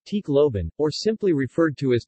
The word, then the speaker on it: Tacloban: Tacloban, Tacloban, Tagalog pronunciation, Tacloban, or simply referred to as Tacloban City, is a first-class highly urbanized city in the Philippines.